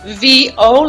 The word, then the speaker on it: Vieau: So it's pronounced Vieau, like V, the initial, and O.